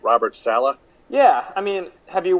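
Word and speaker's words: Saleh: guy this they want Salah is that how you pronounce it Taylor yep Salah Salah they like Salah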